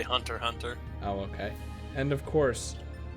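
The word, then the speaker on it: Hunter × Hunter: kangan ashura wing from hunter cross hunter i think that's how you say it no you just say hunter hunter oh okay and of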